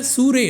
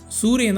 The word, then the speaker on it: Sirui: இந்த சூரிய லென்ஸில் இது வந்து ஆக்சுவலி ப்ரொனவுன்ஸ்ட் சூரியன் தான் ப்ரொனவுன்ஸ் பண்ணோம். இது எப்படி ப்ரொனவுன்ஸ் பண்ணுறதுங்கிறத அவங்கள்ட்ட டைரெக்டாகவே நான் மெசேஜ் பண்ணி கேட்டுட்டேன். சூரே இந்த லென்ஸ் வந்து ஒரு ஏபிஎஸ்சி ஃபார்மேட்டுங்க, சூப்பர் 35 ஃபார்மேட்டுக்காக தயாரிக்கப்பட்ட லென்ஸ்.